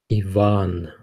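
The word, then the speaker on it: Иван: bears for you Ivan Yvonne the stress is on the second syllable yeah Yvonne Maria Maria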